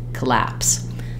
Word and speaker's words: collapse: we might want to use a true clear vowel there and you really want it to be very short and reduced collapse that's why starting with laps can be helpful lapse collapse um uh and then